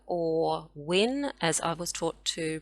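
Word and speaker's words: Wunjo: to a relationships as well next we have wunyo or win as i was taught to pronounce it and it means joy so obviously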